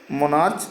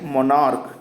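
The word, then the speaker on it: monarch: क्यों, क्योंकि इसका जो उच्चारण हो रहा है वो क हो रहा है और इसमें हम सिर्फ क्या लगाएंगे, सिर्फ S लगाएंगे और ये आपका प्लूरल हो जाएगा।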